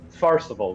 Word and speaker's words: Tfarcevol: It's pronounced, in actuality, it's pronounced Tfarcevol. The T is silent, right?